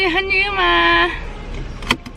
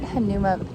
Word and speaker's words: Hanauma: Off to Hanauma. Watch us just pronounce all these wrong.